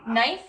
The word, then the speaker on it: knife: So you don't say knife, it's just knife. So you don't say the K.